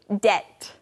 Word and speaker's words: debt: to someone now friends this word debt D BT is spelled with a B but we don't actually say the be we just say debt that's right now to